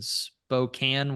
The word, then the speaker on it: Spokane: We're your hosts, John and AJ, and today's guest is Josh Henderson, owner of Patriot Roofing and Exteriors in Spokane, Washington.